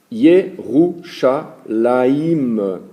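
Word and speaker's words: ירושלים: Alors, connaissant l'alphabet comme on avait appris les fois précédentes, I-R, Vav, Shin, Lamed, I-M, donc se prononcerait Irvishlem, deviendra Yerushalayim, avec une série de points et de symboles, des hiéroglyphes, dirons-nous, autour des lettres hébraïques.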